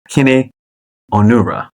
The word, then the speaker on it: Kene Onuorah: Kene Onuorah.